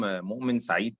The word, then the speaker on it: Moamen Said: I'm Moamen Said. This is how we pronounce it.